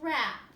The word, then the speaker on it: wrap: The words over here also have silent W's. Wreck, wrench, and wrap.